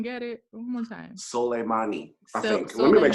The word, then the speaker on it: Soleimani: went and bombed Iran and their general, I can't say his name correctly, Somalay, I don't know. Can any of y'all say it correctly? I'm not going to pronounce it. Soleimani, thank you.